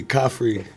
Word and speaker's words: Khafre: Khafre. Is that the way you say it? It's like coffee that's free. Khafre. Khafre. Yeah, yeah. Coffee. You don't pronounce really the R? No, it's in there.